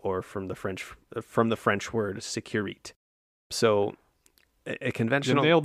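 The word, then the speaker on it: sécurité: from the French word securite. So a conventional... You nailed the Italian earlier. You could work on the French pronunciation. I'm not French. Securite. Secu.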